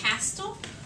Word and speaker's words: castle: s t l e do we say c Castle no we Castle we say castle right T Sil that's right we have that t the silent and what else is silent l e the E right so we have two silent letters in here okay yeah